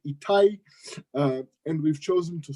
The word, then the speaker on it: Etai: I pronounce itai.